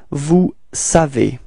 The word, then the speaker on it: vous savez: Alright, so now vous, and then we get this vous savez. Repeat. Vous savez. Okay, keep in mind that this ending EZ, okay, is pronounced like E, E. Okay, vous savez.